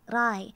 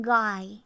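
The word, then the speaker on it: rồi: But when I was growing up, my parents never pronounced the R like a r, like rai. They would just say oh the cherry ang gai, like that. So I wonder, do my parents not have good pronunciation? Because chat was like, no, it's not gai, it's rai.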